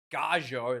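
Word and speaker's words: Gallo: Gajo, that's apparently how to pronounce his name, the loose step prop, has been tremendously well for Argentina.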